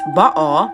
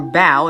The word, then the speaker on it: Baal: It's Baal, that's how you actually pronounce it from Hebrew. Or Baal is how, or Baal is how we Americans pronounce it, is the king.